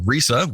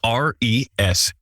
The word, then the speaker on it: ReSA: today to talk about Risa which I've just edited out a mispronunciation of that which is Rea and it's the research